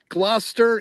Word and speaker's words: Gloucester: Warwick is how that's pronounced. Gloucester, even though it's spelled g l o u c e s t e r, it's just pronounced Gloucester.